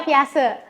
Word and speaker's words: Piaget: Tulisannya Piaget. Dibacanya Piaget.